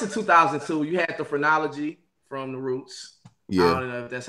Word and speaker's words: Phrenology: so the rest of 2002 you had the phrenology from the roots that's how you say it